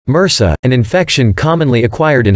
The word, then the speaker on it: MRSA: A good example is methicillin-resistant Staphylococcus aureus, MRSA, pronounced MRSA, an infection commonly acquired in hospitals.